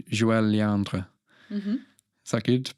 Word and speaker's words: Joëlle Léandre: But on that course, there was this amazing bass player called Joëlle Léandre. Mm-hmm. Is that good pronunciation?